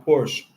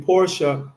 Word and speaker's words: Porsche: 2 turbos, Ferrari le estaba cayendo atrás a Porsche. Eso se pronuncia Porsche.